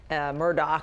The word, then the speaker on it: Murdaugh: This Alex Murdaugh, and by the way, he pronounces it Alec Murdoch. Of course he does. Down in the South, that's how they say it in South Carolina.